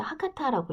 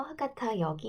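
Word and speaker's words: 博多: 자, 여기 보면 후쿠오카 하면 하카타역이라고 되어 있죠. 하카타라고 읽어요.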